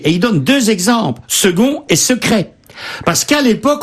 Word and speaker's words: second: c'est embêtant fa eneverp pourquoi par exemple prononçons-nous second alors que ça s'écrit avec un C c'est vrai que le